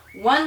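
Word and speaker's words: aux: beginning to realize that the Au U and even with an x on it is pronounced o okay so if I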